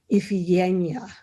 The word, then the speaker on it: Iphigenia: While in Hydra, I learned the modern Greek pronunciation of Iphigenia, Iphigenia.